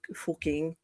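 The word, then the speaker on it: Fucking: That's a And then of course there's an entire town in Germany that's called I was surprised pronounced fuking.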